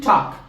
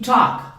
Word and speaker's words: talk: To talk hablar To talk borro esto estamos hablando en presente To talk conversar hablar la l no se pronuncia To talk hablar esto